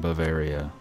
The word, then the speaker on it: Bavaria: know very Oh Ciel why do you always put an R in Bavaria it doesn't need it you're adding letters they're not they're not there how do you pronounce